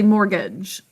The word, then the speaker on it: mortgage: cap the a because we say mortgage kind of an uh or a sound it's unstressed great job krish isn't